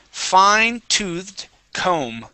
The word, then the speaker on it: fine-toothed comb: And fine-toothed comb. Okay, the B is going to be silent. Fine-toothed comb. Fine-toothed comb.